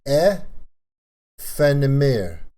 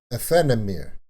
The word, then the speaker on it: Aephanemer: That was, it's AEPHANEMER. AEPHANEMER. That's the pronunciation in French.